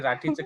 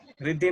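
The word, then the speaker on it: Rathi: सिनी मल्याळम आहे ना, त्यामुळे ते राठीचं काहीतरी वेगळंच केलं त्यांनी। रिद्धी नहीं है, ते राठी है, राठी।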